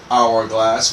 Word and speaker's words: hourglass: So why don't we say" a" hourglass. We actually say an hourglass because again the H is silent here.